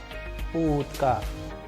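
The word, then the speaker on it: утка: And with the help of sample Russian word, we can pronounce oo as in utka.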